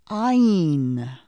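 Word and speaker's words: ע: The next letter is silent, just like the Aleph is silent. This is the letter Ayin. Repeat after me. Ayin. Ayin. Notice I don't make any sound because the letter ayin has no sound.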